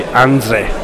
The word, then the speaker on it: Andrzej: J on the end is pronounced like an I, so it'd be Andrzej.